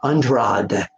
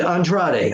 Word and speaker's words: Andrade: Rollins again against under I always say his name wrong untrod two guys ride down Friday thank you so uh I can't ever pronounce it Andrade I got it for